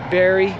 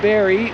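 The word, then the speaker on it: Barrie: I don't know if I'm saying it correctly Barry b-a-r-r-i-e Canada which is about an hour a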